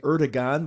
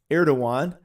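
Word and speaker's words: Erdoğan: being attacked but uh erdogan as it's pronounced looks like erdogan but it's actually erdogan um is actually uh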